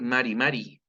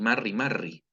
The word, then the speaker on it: Mari Mari: Ojo, por favor, con la pronunciación. Acá nunca vamos a decir Mari Mari, ni Marri Marri.